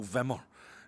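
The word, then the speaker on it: Wimmer: His name is Michael Whmer. Michael Vimemer it will be pronounced.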